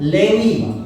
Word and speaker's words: Lewi: Ruben, Simeon atau Simon, Levis. Kita pakai celana Levis, ya. Lewi itu kalau kita bacanya bukan Levi, sebetulnya Levis itu Levi Strauss, S-nya itu Strauss, ya.